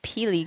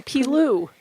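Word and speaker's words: Peelu: Wait, say the real word. Say it. I don't know how to say it. Pilu? Pilu? Pilu gum? Peely gum? No, Pilu. It's Pilu gum.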